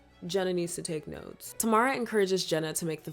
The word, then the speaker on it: Tamara: It's spelled Tamara, but it's pronounced Tamara. Like, if your birth control fails, you better plan B it.